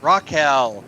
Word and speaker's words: Rachele: Except you're saying it wrong, of course. Am I? Is it Rachele? Yes. Am I? Raquel. Oh, Raquel.